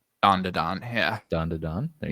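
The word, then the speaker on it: Dandadan: You might be familiar with this and help me pronounce it. Winter Jam picks Dan to Dan. Don to Don, yeah.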